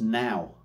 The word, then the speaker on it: Nor: And last but not least, we've got their Nor, which is actually pronounced now. It's Welsh for, I can't remember what it said, but it's pronounced now.